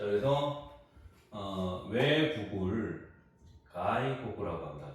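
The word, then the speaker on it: 外国: 자, 그래서 외국을 가이고구라고 합니다. 가이고구.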